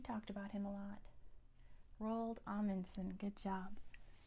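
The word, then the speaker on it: Roald Amundsen: this one we talked about him a lot rald alanson good job R spelled like this alanson alanson number five the country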